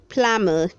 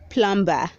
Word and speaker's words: plumber: peasant read 324 says plummer say plummer don't say plumber the b is silent red 325 says potassium